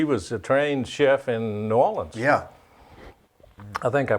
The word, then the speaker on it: New Orleans: She was a trained chef in New Orleans. Yeah. I think I pronounced that right. New Orleans? No, I think you said Nolans? Nolans. Nolans. That's the way they do it.